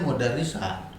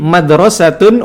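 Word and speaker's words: مدرسة: Lah, antum tadi bacanya mudarrisah. Terjemahannya sekolah. Iya, Ustaz. Ada rekamannya loh. Iya, Ustaz, apaan? Iya. Hadhihi madrasatun wa tilka jami'atun. Nah, Masya Allah. betul.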